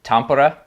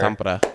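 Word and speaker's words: Tampere: we will be in I've heard that it's pronounced Tampura Finland the monster. Tampra.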